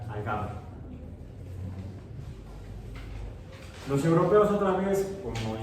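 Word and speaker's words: الجبر: Le llamaban el cálculo, pero en árabe se pronuncia al-gabr.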